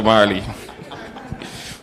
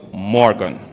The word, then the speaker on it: Morgan: You see, he's laughing at me, because I keep calling him Marley. But I shall remember it's not Marley, but it's Morgan.